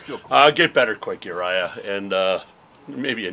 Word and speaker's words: Urijah: He's Uriah. That's Uriah. Uriah. Uriah. Like Silent Elijah. J is silent.